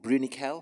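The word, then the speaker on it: Bruniquel: Art the last three is a site called brunikel have I pronounced that right yes which I I read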